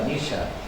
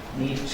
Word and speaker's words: Nietzsche: You read that wonderful little booklet by Nisha titled The Future of Our Schools. Very interesting, very thought-provoking book. German philosopher, Friedrich Nietzsche, that's how it is pronounced.